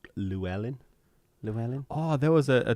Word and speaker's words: Llewellyn: Llewellyn. Oh, that's how it's That's how pronounced. you're supposed to say Oh, okay. Yeah, I've been Yeah. saying that wrong forever. it. Yeah, Llewellyn.